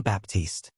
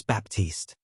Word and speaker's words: Baptiste: Baptiste. She pronounced my last name wrong, putting the emphasis on the first syllable instead of the second.